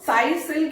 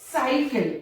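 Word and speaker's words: cycle: कैसे, साइकिल, यहां देखिए सी के बाद में वाई आया तो वाई से साउंड क्या बनती, स, और सी के बाद में जब एल आया यानी एक कॉन्सोनेंट आया तो बन गया क, तो क्या हुआ, साइकिल।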